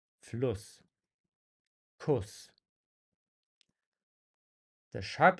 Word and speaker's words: Fluss: Fluss. Der Fluss. You can hear that the U sound before it is actually short, and the stress is on the double S. Fluss.